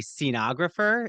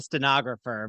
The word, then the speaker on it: scenographer: an educator I think it's a scenographer is that how you say iter yes yes first I was going to say a stenographer but a stenographer is very no very different very different um so Tristan